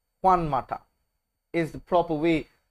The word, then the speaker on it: Juan Mata: Juan Mata, not Juan Mata, Juan Mata is the proper way to pronounce the gentleman's name.